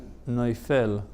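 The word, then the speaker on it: נופל: That's how it's pronounced, noifel. There's a tzera under the fe.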